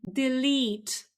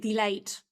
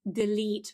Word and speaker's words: delete: And now, what's a very common mispronunciation of this word? Very often people say something like delight, okay? But this is delete, okay? or push on it.